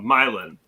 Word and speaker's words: Milan: Uh we're right next to a town called uh Milan. M I l an N, right? Like Milan. And Katie called it Milan for the first year and she caught so much crap from locals.